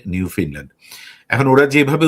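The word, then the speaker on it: Newfoundland: নিউ ফিনল্যান্ড and Labrador প্রভিন্সটার বানানটা হলো নিউ ফাউন্ডল্যান্ড কিন্তু ওরা উচ্চারণ করে নিউ ফিনল্যান্ড।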